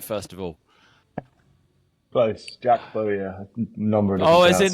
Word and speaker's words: Bowyer: Jack Bowyer. Number of Oh, different as in pronunciations people go Lee with.